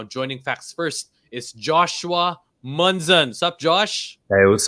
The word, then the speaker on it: Munzon: uh you know well in the philippines a lot of people like to say moon zone but you know for me growing up out we pronounce our names at munzen so you know i